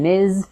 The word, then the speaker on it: Ms: their marital status and Miz fit the bill it's pronounced with a Z so buzz your vocal chords at the end ms let's try a